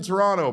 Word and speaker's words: Toronto: But anyway, uh don't pronounce the T in Toronto, my friends uh from here in Arizona who are new Blue Jays fans.